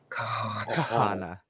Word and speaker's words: Kahanna: Like, if you're gonna say her name, you gotta say it right. It's Kahanna.